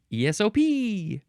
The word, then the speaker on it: ESOP: And which ones are emphasized? The P is emphasized. ESOP. It's spelled ESOP, all caps.